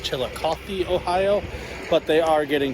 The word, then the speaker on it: Chillicothe: All right, so I'm pretty sure I just said Chilhowie, Ohio. It's actually pronounced Chillicothe, Ohio.